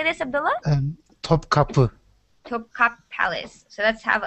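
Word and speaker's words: Topkapı: Topkapi.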